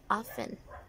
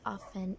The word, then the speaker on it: often: You heard me say often. It's actually often in standard English, but in Scottish accent, it's often.